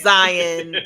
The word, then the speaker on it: Zion: for thanks for reminding me friend it was Zion that's how you pronounce by the way Zion it was Zion